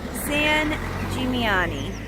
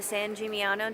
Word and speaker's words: San Gimignano: Wrapping up our trip to Tuscany, but we're stopping at one last place, San Gimignano, I believe is how you say it.